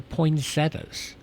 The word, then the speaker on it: poinsettias: Can't even pronounce the i e t t a anymore.